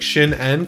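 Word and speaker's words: Shin'en: i said that wrong it's spelled s-h-i-n apostrophe-en so like shin n kind of seems like the way to say it anyway it's a game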